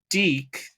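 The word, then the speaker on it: DiC: But eventually that fell through, unfortunately, and Deke did buy the rights 1995. That's how you pronounce it. Deke. Oh, okay. Deke. We've been saying it wrong this whole time.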